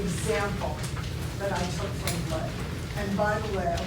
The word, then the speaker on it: Bley: Now, in your bibliography, you'll find a book by a fellow named, I believe it's pronounced Bley, B-L-E-Y, which is a very, very available volume for teachers.